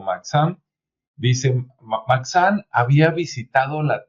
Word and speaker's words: Maxam: Maxam se escribe con X, entonces en una de esas a lo mejor es Maham. ¿Sí? Maham o Maxam.